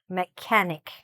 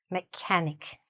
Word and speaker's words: mechanic: So, again, what's happening here, stress is here, "mechanic". The "ch" doesn't sound like "ch" at all. It sounds, again, more like a "k", "mechanic", okay?